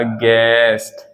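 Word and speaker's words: guest: भाई चलिए देखते हैं एग्जांपल जैसे मैंने कहा गैस्ट क्या बोला गेस्ट गेस्ट का मतलब होता है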